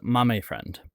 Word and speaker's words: Mame Friend: Well, a lot of folks have this question and the correct pronunciation is Mame Friend.